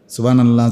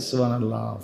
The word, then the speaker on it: সুবহানাল্লাহ: না সুবহানাল্লাহ কি হা এটা পূর্ণ উচ্চারণ হতে হবে না এটা কই হইছে সুবহানাল্লাহ সুবহানাল্লাহ শেষের যে গোল হা সেটা কই আল্লাহ এইযে হা লাস্টে একটা ছোট হা আছে না আল্লাহু সুবহানাল্লাহ সুবহানাল্লাহ